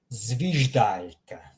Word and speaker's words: zviždaljka: We're pronouncing the first letter here, zviždaljka. Notice how I'm pronouncing in Croatian zvij. I'm reading every single letter individually.